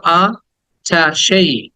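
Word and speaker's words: attaché: me fast word is আমরা এটাকে এটাচ বলি এটাচই না এটাচ না হ্যাঁ এটাচ বললে এটা অন্য শব্দ এটাচ এটা ভার্ব এটা মানে যুক্ত করা সংযুক্ত করা কিন্তু এটা হচ্ছে 28 28 বলো আ ঠা সেই আঠা সেই আঠা সেই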